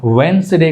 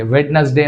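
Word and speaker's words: Wednesday: डी को pronounce नहीं करते, यानी डी का आवाज़ हम प्रोनाउंस नहीं करते। थर्ड वन, वेंसडे कहना चाहिए, वेडनेसडे नहीं कहना चाहिए, वेडनेसडे अगर कहते हैं तो गलत है, वेंसडे इज the correct option.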